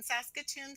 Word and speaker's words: Saskatoon: I'm in Saskatoon, Saskatchewan. Wow. Can you 36th pronounce that for territory in Canada.